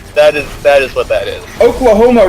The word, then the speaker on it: Oklahoma: Oklahoma rhymes with melanoma.